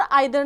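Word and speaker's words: either: हाँ जी, ईदर, नीदर को हम ईदर नीदर भी बोल सकते हैं और आइदर नाइदर भी, हमारा दोनों प्रोनाउंसिएशन ठीक होता है।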